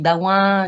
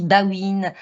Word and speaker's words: Bawin: Je suis Bawin, dit aussi Bawine, le plus souvent à l'étranger. Les deux me conviennent, même si en Wallonie, je m'appelle plutôt Bawin. En tout cas, mon nom est prononcé de cette façon-là.